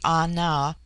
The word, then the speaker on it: Ana: The word ana pronounced broadly ana corresponds with our plural men.